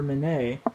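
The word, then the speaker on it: Minié: a mini ball is named for the French officer Mane we call it mini because we don't pronounce anything correctly but it it was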